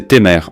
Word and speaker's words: Timar: C'est la planète Timar, du peuple Timar dans l'univers d'Al, prononcé Témer en anglais.